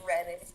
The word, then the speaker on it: Reading: sure you're getting indoors just so you know it's pronounced reading reading okay yeah you new englanders